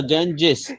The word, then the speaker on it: Ganges: Yeah, the Ganges. In, Yeah, the in, Ganges. But Kunal bhai, in English they pronounce it the Ganges. Not Ganga.